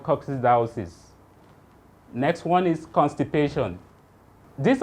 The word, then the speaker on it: coccidiosis: Another rabbit disease is cool down, let me pronounce it, then you call it coccidiosis. Say that gradually.